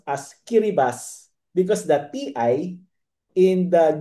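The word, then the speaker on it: Kiribati: in the central Pacific Ocean and it is pronounced as Kiribas because the ti in the Gilbertis language or the country's language represents an S sound. So that is pronounced as Kiribas.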